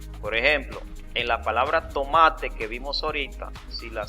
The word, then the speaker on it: tomate: Porque si ustedes pronuncian la palabra tomate se van a dar cuenta que la fuerza está en la sílaba ma lo lo mismo pasa